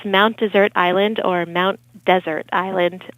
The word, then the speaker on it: Mount Desert: people most people say Mount desert but it should be Mount desert um well locals for the most part call it Mount desert because it's a Corruption of the original French pronunciation Desir oh um